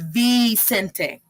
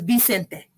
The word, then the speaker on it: Vicente: No one says Vicente. It's Vicente. Se escribe como una B, pero se pronuncia.